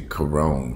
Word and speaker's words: Karon: I think his name was Karon Brown, must be say Karon, because it's spelled K-A-R-O-N, Karon Blake.